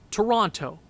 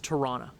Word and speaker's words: Toronto: we were talking about words that everybody pronounces wrong toronto toronto right i know everybody i know says torana i go out of my way to please canadians and i'm canadian as well by saying torana toronto i just find it